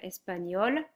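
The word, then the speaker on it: espagnole: Espagnol espagnol. Same pronunciation but you still need to write the e here. Français.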